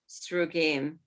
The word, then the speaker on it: Srugim: No, Srugim, it's spelled Oh, in English, chat. Go on. S-R-U-G-I-M, Srugim.